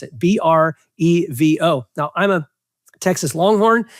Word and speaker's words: Brevo: So that's why I'm pronouncing it Brevo, because it looks like Bevo with an R in the middle.